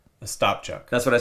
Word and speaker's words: Ostapchuk: What was coming back from that trade is Zach Ospachuk. Ostapchuk.